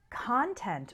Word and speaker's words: content: situation you're satisfied with content with the stress on the first syllable is a noun referring to what is